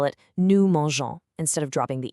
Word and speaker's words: mangeons: or voyager to travel, we just keep the E before the ons ending for the nous form. Why? Just so the G stays soft. So we spell it nous mangeons instead of dropping the E completely.